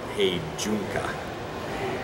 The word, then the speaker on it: heijunka: build to the customer demand and we follow heijunka which is actually pronounced pain Jukka and that's leveling of volume and variety on